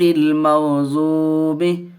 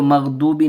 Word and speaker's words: المغضوب: غیر المغضوب، اس کو مغضوبی نہیں پڑھیں گے، بعض لوگ مغضوبی پڑھتے ہیں. غین اور ضاد کی آواز فرق ہونی چاہیے، دونوں کی آواز، اس کی تلفظ کی ادائیگی صحیح ہونی چاہیے.